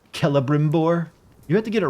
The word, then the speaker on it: Celebrimbor: If they wanted to be Celebrimbor, they should have put a fucking K in his name, not a C. I don't care how Celtic they wanted it to look.